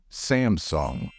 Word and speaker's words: Samsung: a moment to think I know that a lot of non-native speakers pronounce it as Samsung however that's not correct the stress in this word should fall on the first syllable and the second part of the word should be pronounced as s not soon the right pronunciation of this South Korean brand is Samsung remember it did you